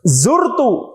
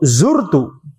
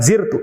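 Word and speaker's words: زُرْتُ: Zurtu. Zurtu. Bukan zirtu. Zurtu karena dari kata yazuru ya.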